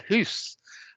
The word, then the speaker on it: house: If it rhymes, well, does it rhyme with moose? So you have hoose. Now today, we probably associate that with some speakers in Scotland. But 400 years ago, it was widespread. Time of Shakespeare, widespread around the country as a pronunciation. Does it even rhyme with ass? Yes, for some speakers, it's gone from hoose to house. Well, it's gone through various stages, then to house, which is, I think, what I would say.